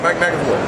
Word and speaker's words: McAvoy: Mike McAvoy.